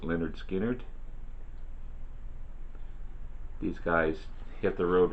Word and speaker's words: Lynyrd Skynyrd: a lineup another debut from 1973 Lynyrd Skynyrd pronounced Lynyrd Skynyrd these guys hit the road running I ain't